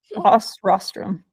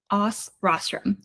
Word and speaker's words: OsRostrum: that's cool yeah so how do you actually pronounce it OS Rostrum OS Rostrum good to know it's also a bit of